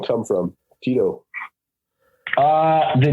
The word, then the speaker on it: Tyto: i was gonna say you caught me off guard when you said tito i was like oh i've been saying it wrong this whole time so that's what i've been running with but but either way i know like schneider always says taito he doesn't like the name tito which he was a